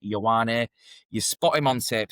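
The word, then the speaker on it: Ioane: second name is spelled I O A N E pronounced Yawwani.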